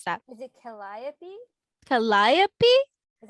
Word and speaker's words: Calliope: named caglio caglio i don't know how to pronounce that is it calliope calliope is how you spell it i don't